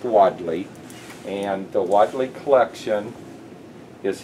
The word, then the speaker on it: Wadley: by the spelling and my last name is called w ad le and it is pronounced widely and the Wadley collection